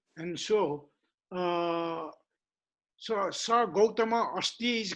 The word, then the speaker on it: Gautama: Actually, very correct pronunciation is Gautama. Ga first and U and Tama. Gautama.